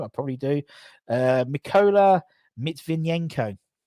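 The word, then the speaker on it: Mykola Matviyenko: Mykola Mitvinenko. Or Matvinenko, probably.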